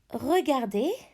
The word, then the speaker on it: regardez: Regardez, look, regardez, silent Z.